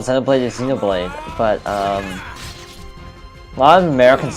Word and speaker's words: Xenoblade: call Zen blade or Xeno Blade but um lot of Americans say Xenoblade but the Japanese pronunciation is Zeno blade just straight up Zeno blade um let's keep up